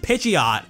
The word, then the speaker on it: Pidgeot: Official Material calls it Pidgeot, and that's the most popular pronunciation among fans too.